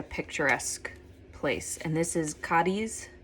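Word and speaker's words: Cádiz: place and this is cadis cadis am I saying it right so the locals um in southern Spain they pronounce the Z as a th so they say kth but I couldn't bring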